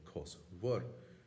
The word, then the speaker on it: cosúil: Another unusual thing to add before I forget, in the pronunciation of this word, in the dialect of Cape Clear, I heard in a Irish linguistics talk last week, they don't say cosúil or cosúil, they say cosúir.